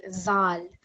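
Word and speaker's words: ذال: So this letter Dhal is very similar to the sound at the beginning of this English word. So when you say this in English, it's the same sort of TH sound that's coming.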